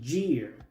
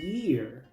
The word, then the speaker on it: year: Muchos pronuncian esta palabra gear, pero la i griega en inglés no se pronuncia así, se pronuncia como una i. Así que esta palabra se pronuncia year. La y se pronuncia i. La e se pronuncia i. La a es muda, luego se pronuncia la r.